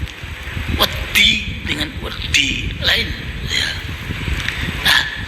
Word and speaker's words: wedi: bahasa Jawa itu ee ada misalnya ada kata wedi ya dalam bahasa Jawa itu kalau ditulis dengan huruf latin W E D dan I. Kalau orang bukan bukan Jawa pasti akan akan membacanya wodi ya woodi begitu ya.